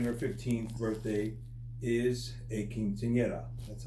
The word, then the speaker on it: quinceañera: the girls celebrating their 15th birthday is a quinceanera that's how you pronounce it the celebration of a girl's Cantina